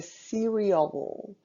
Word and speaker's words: cereal: E a pronúncia é cereal. Tem que enrolar um L no final.